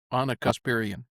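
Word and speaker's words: Ana Kasparian: I think of it as like when Bill Maher was deprogramming, is her name pronounced Anna, the one from Young Turks? Anna Kasparian.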